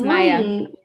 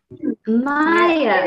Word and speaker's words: Maja: if i mispronounce this maja people hello my name is maya maya okay cool meeting you you're